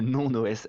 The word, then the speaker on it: NonOS: Il y a NonOS, N-O-N-O-S, qu'on peut prononcer aussi Nonos pour les chiens.